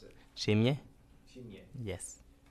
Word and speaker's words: Nshimye: N S H I M Y E. Okay, how do you pronounce it? Nshimye.